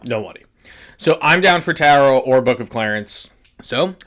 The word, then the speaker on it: Tarot: you don't it's tarot tarot everyone knows the second tea is silent I want to I